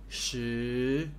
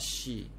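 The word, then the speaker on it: 十: going up okay this pronounced like shirt without rt shoe goes up okay never pronounce this as sh idea it's not she is think about shirt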